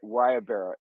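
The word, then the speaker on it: guayabera: bear shirts are expensive so so it's actually pronounced right the wire Barrel like wire Bara and have you noticed check how close wyabara is to that very popular shirt in Ukraine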